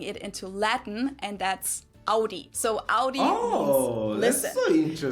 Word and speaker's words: Audi: I'm too for that most Americans that I know pronounce it like I just said it AI in German we say Audi Ai and there's actually a